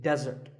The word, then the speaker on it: desert: not be confused with desert here the stress is on the first syllable which is death desert now I said